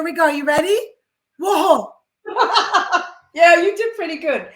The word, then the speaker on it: Waho: Waho. Yeah, you did pretty good. Thank you. Good. Will you pronounce it for everybody, Patty? My first name is, and my surname is Waho.